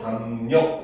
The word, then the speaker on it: 담력: 자, 받침 미음 이음 뒤에 연결되는 리을은 니은으로 발음을 합니다.